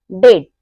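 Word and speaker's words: debt: क्या आएगा टी आएगा तो तब हमारा बी साइलेंट होगा जैसे डेट डाउट और सट इन सब में क्या आ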